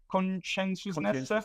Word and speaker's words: conscientiousness: Conscientiousness. That's how you pronounce.